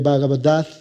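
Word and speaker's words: Bhagavad: con las doncellas de vaga verdad así se pronuncia una de las escrituras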